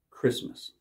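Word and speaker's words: Kiritimati: here Monte but when they pronounce it it's pronounced Christmas here on the label this red is the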